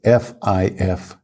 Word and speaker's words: fifth: be careful with first the number five we don't just add th to the end it is not five if instead the v e in five changes to an F so it's f-i-f-t-h fifth fifth the next one is